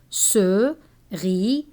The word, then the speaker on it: cerise: S is pronounced Z when it is placed between two vowels. Be careful, one S between two vowels is read Z, but double S between two vowels is read S.